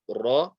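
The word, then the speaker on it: ر: Ra, not a heavy letter, but we will read it as so. So we won't say ra, we will say ra, and it's a vibration of the tongue.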